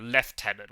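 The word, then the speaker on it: lieutenant: it's so easy like we're talking about left tenant why is there F sound in there there's no F what it doing um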